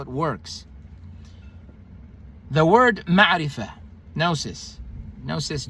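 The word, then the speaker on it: gnosis: n n n n n o s i s the g is silent means a belief that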